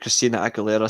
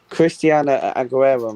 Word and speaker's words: Christina Aguilera: Christiana Aguilera, mate. She would run with your midfield, mate, by the way. Christina Aguilera. That's how you pronounce her name.